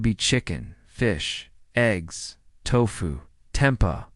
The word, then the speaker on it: tempeh: This could be chicken, fish, eggs, tofu, tempa, pronounced tempeh, or lentils.